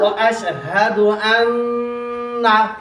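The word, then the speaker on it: وأشهد أن: আশহাদু আল্লা ইলাহা ইল্লাল্লাহু ওয়া আশহাদু আন্না আর জোরে সুন্দর করে ওয়া আশহাদু আন্না গুণা বেশি করে টান হবে না, গুণা হবে ওয়া আশহাদু আন্না আবার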